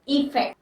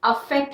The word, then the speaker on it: effect: Pronunciation क्या है इसकी, आई से है, इफेक्ट, अफेक्ट नहीं, इफेक्ट।